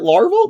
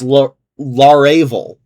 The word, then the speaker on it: Laravel: Is it larval? No, it's laravel.